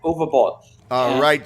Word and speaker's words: Uwe Boll: stuck in so how what is the exact pronunciation do I have it right is it like a v u b yeah u b all screw you jerks was I Brazil they only